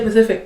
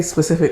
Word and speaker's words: Pacific: the thing is I I was going to say Pacific but I don't know how to pronounce it oh yeah cuz a lot of people say specific oceans yes I that's how